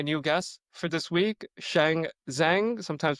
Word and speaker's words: Shang: My name is Shan. Thank you for having me. Very excited to be here. All right, so there you go. For everyone out there who asked me how to pronounce Shan's name, it's Shan.